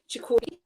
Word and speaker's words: Ciccone: night event with Kirkland, Ciccone. I had to look that up to find out how to actually pronounce it. I was thinking, is it like that's spelling? That's perfect, thank you.